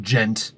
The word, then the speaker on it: djent: If you put a noise gate at the end, like for djent music and shit like that, I find it's pronounced gent as well.